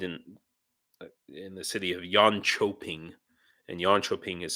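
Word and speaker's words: Jönköping: like you and also the K is often a CH sound so like uh I lived in in the city of yan choping and Yono ping is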